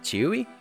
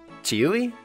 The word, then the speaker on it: ĉiuj: Chewy? Chewy? It's like... C circumflex I U J, which makes a Y sound because it's like the IPA or whatever.